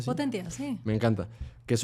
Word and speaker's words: Potentia: Potentia. Sí, Potentia.